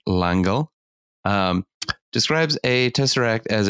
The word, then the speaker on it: L'Engle: built a crooked house madeleine l'engle uh and that was not me mispronouncing that's french langelle um describes a tesseract